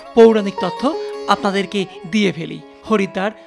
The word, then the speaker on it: হরিদ্বার: দৃশ্য পরিদর্শনের পাশাপাশি চলুন হরিদ্বার ও হারকি পৌরী সম্পর্কে কিছু ভৌগোলিক ও কিছু পৌরাণিক তথ্য আপনাদেরকে দিয়ে ফেলি। হরিদ্বার স্থানীয় উচ্চারণ যাকে হরদ্বারও বলা হয়।